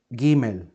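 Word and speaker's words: ג: We have A, we have R, and then we have the letter Gimel.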